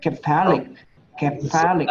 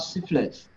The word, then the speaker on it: cephalic: Yeah, cephalic, not syphilis. You say that to the husband, she has syphilis. That's it. You're gone. Cephalic, okay.